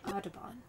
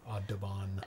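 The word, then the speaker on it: Audubon: good one I've also uh um I'm probably pronouncing that wrong a u d u b o n oh aabon aabon um I've been to this uh not Santa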